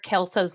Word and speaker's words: Kelso: Yep, Kelso, just Kelso? like that 70's show.